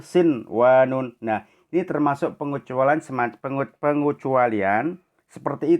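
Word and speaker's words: صنوان: sinwanun, bukan siwanun tapi sinwanun.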